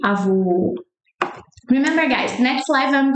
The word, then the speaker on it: avô: So remember that when men wear hat, remember the French closed sound. So close your mouth. Avô, vô. This is the O sound.